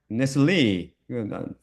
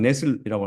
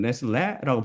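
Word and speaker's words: Nestle: 번역하고 있는데, 이것은 에버하드 네슬리, 네슬리라고 미국 사람들 발음합니다. 한국 사람은 네슬이라고 하지만 네슬리가 맞는 발음이고, 근데 모르죠. 이 사람은 독일 사람인데, 제가 독일어를 옛날에 배웠는데 다 잊어먹고 발음을 어떻게 하는지. 이 사람들은 네슬레라고 발음하는 중.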